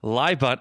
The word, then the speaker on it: LYBUNT: LIBUNT is spelled LYBUNT, and it stands for last year, but unfortunately not this year.